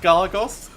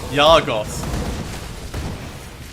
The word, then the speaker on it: Gargoth: Oh, and we're also saying a hard G sound. So it should be Yargoth. No, that would be with a J. But it should be a soft G. Like Jargoth.